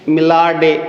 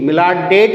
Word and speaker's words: Millardet: English में मिलार्ड डे, MILLARDET, मिलार्ड डेट भी लिखा है कई किताबों में, मिलार्ड डे, टी इसमें साइलेंट भी हो सकता है।